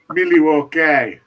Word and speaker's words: Milwaukee: Milwaukee. It's the local pronunciation for it.